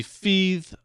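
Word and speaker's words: Fathe: It's uh the title is spelled F A T H E and it's supposed to be Fe pronounced like breathe.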